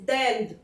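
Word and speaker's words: d'Inde: Example, डेंड, D apostrophe and means इंडिया, इंडिया वैसे भी feminine country है तो डेंड, प्रोनाउंसिएशन इज डेंड।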